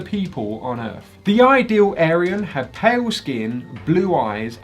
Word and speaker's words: Aryan: the word ayu yeah i got that wrong it's pronounced aryan not aryan to describe his idea